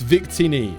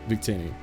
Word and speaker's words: Victini: just just really awful humor so yeah it's Victini oh sorry my bad Victini but uh welcome I appreciate it thank you